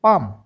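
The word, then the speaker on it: palm: जहां पर भी जिस भी स्पेलिंग के अंदर एल और एम आते हैं वहां पर एल साइलेंट रखना है। पी ए एल एम पालम नहीं पढ़ना इसको। क्या पढ़ेंगे? पाम क्योंकि एल तो साइलेंट है।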